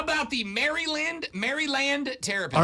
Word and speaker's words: Maryland: maryland how about the maryland maryland territory all right let's just do it the way they do here merlin merlin there we go merlin